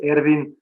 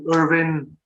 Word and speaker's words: Ervin: The way we pronounce it in Slovenia is Ervin. You can call me Irvin, Irv, or as my extended family calls me, Erki. That will do as well.